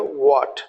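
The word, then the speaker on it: what: जैसे लिखा है वाट, डब्ल्यू एच ए टी, यह एच साइलेंट है तब इसको बोलो वाट।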